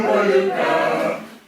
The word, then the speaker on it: Paducah: Paducah, Paducah, if you want it, you can rhyme it with bazooka. But you can't poo-poo Paducah, it's another name for paradise.